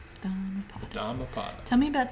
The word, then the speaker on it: Dhammapada: Not Dharmapada? No, Dhamma is how it was written in Pali, which is the language that Buddha spoke. Dhammapada.